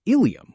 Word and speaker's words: ilium: First, some words sound exactly the same but are spelled differently and have completely different meanings. For example, ileum with an e refers to a part of the intestine, while ilium with an i refers to a part of the hip bone.